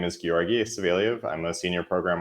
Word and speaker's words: Georgii: me introduce myself first so my name is giorgi saveliev i'm a senior program architect um specializing in communications cloud at salesforce based in singapore um the name is pronounced giorgi and not georgie like with the soft g it's a tough